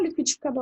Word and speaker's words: liquidificador: aqui nós temos liquidificador então se eu fosse chamar liquidificador no portão para descobrir qual é a sílaba tônica eu ia chamar assim olha aqui gente ficar bom e o liquidificador fazendo o dor ele vai ficar mais tempo então ele vai ser a minha sílaba tônica o terceiro passo é